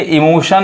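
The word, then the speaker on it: emotion: और वही देखिए इमोशन में अब यहाँ पे जो TION क्या पढ़ रहा है, श पढ़ा रहा है।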